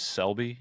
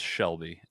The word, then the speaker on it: Selby: you're not alone because my last name is Selby and it's spelled exactly like it sounds and nobody ever pronounces it right every single time it's Shelby and I don't know